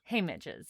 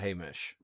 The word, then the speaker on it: Haymitch: Haymitch's, yeah. Haymidge. Haymitch. Not Haymidge. Haymitch. Haymidge. Haymitch. Haymitch. Haymitch. Like Mitchell.